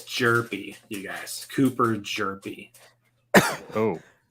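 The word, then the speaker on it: Hjerpe: All right, it's Jerpy, you guys. Cooper Jerpy. Oh, okay. I don't care. His name is now Herpy. I'm sure he's never Cooper gotten that before. Jerpy. So the H is silent.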